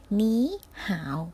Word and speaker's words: 你好: อ่าน ออก เสียง ตาม มา ซื้อ นะ คะ หมี ห่าว แปล ว่า สวัสดี ค่ะ จะ อีก เพี้ยน อีก